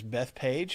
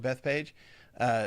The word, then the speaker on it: Bethphage: Some people call it Bethphage, Bethphage, I think. So maybe that's 4 altogether. But I looked it up, and it seems like, especially if you go back and read it in the Greek letters, it would probably be either Bethphage or Bethphage. Okay, so I'm going to try to make myself say Bethphage.